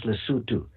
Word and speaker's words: Lesotho: So you go to Google Maps and you put in the word Lesotho, Lesotho, if you wish, pronounce Lesotho, Lesotho. Just put that into Google